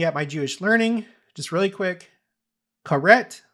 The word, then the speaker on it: Karet: Karet or I guess it's supposed to be pronounced kareit. Also known as excision, is